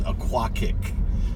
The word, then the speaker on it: Oquawka: couple convenience stores and things like that but Oquawka it's an Indian Native American name means yellow river bank and actually the the proper pronunciation is a kwok ik k I see Kay on the end kick